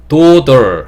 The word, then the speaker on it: daughter: daughter 할 때의 혀의 위치나 daughter 할 때의 혀의 위치나 daughter 할 때 혀의 위치나 혀의 위치가 변하면 안 돼요.